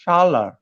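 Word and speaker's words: Çağlar: He is he's like the most rare kind of wine, and I have to admit, because- We're all mispronouncing his name. It's Shalar.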